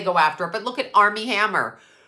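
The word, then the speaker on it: Armie Hammer: after but look at Army Hammer I always say that name wrong Armen Hammer Army Hammer goodlooking 6' five okay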